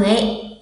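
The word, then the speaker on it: へ: Đây là trợ từ e các bạn ạ.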